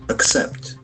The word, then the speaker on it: accept: So we get a beautiful verb except except there are two syllables except double C we'll get C sound in the middle except it's a beautiful verb except except and we can see that the accent falls from the second syllable except except you agreed